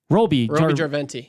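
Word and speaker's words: Roby Järventie: Roby Jarventi.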